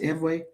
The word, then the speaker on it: Ewe: Ew pronounced eway fawn f o n.